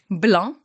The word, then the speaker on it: blanc: So for white, you have blanc. Blanc. So be careful, don't say blanc. It's not blanc, you don't pronounce the C. Blanc.